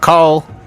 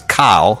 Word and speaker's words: Kyle: That's not Carl. It's Kyle.